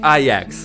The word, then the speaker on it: IX: Okay, so before the game released, I always thought it was pronounced 9, because those are the Roman letters for the number 9. But after the game released and I heard his name pronounced in the game by Himeko, she pronounced it IX. So I'm assuming that's the correct pronunciation. It's not 9 the nihility, it's IX the nihility.